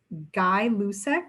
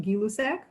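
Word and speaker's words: Gay-Lussac: the other increased directly the scientist's name was guy lusek or properly pronounced gilusek so this direct relationship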